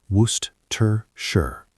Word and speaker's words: Worcestershire: Worcestershire, pronounced Worcestershire. Very tricky sauce name.